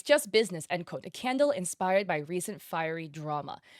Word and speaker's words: Qandle: Okay, so it's Candle, but it's spelled with a Q instead of a C.